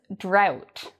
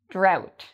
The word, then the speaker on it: drought: pronunciation the word is drought drought so and then we have plow drought and plow these words have an ow sound in them similar to the word cow ow so we have drought